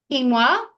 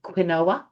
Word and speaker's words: quinoa: There's 200 g of kale 200 g g of quinoa. Um if you need help remembering how to spell it, then you can call it quinoa but um it is quinoa and uh I've got the tri-color one cuz I'm a bit fancy.